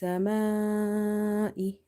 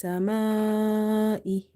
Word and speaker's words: السماء: Here after alif as a madda, you see that hamza is in the same word. If this situation occur, then you have here madde muttasil, attached mad, and the amount of stretching for this mad is 2.5 alif. So you will say minas samai, minas samai, minas samai.